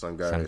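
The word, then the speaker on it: Sangaré: But I'm seeing someone named Sangar, if I'm pronouncing that Sangare, right. Yes, Sangare scored for them, yeah.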